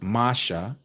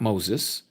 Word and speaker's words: Masha: So, Masha, real name, Masha, not Moses. Moses, okay? Just like Jesus. They also Grecianized motion Moses' name by calling him Moses. It's Masha. But, anyhow, Masha said to